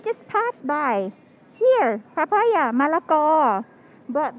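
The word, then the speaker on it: มะละกอ: So we just like use the word, the first syllable phalang, to call foreigners or white people in general. Som. This is malako, which is papaya. So malako.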